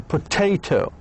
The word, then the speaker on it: potato: Like in potato, potato, the stress falls in the second syllable.